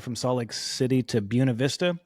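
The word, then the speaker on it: Buena Vista: I used to drive from Salt Lake City to Buuna Vista. On a map, you would read it as Buenav Vista, but I know the locals say Buuna, so I'm trying to sound authentic.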